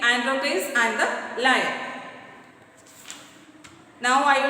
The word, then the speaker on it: Androcles: Androcles, pronounced as Androcles, was a slave.